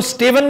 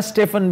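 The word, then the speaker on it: Stephen: इसको स्टीवन भी कहा जाता है, स्टेफन भी कहा जाता है, स्पेलिंग स्टेफन के।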